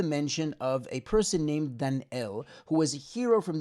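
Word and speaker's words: Dan'el: mikhail brings this opinion so it might actually be dan el and if you'll notice how it's spelled it's spelled dalai nun al-flamed without a yud so he was a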